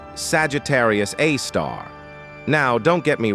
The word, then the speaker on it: Sagittarius A*: At the very heart of our own galaxy, the Milky Way, lies Sagittarius A, pronounced Sagittarius A star.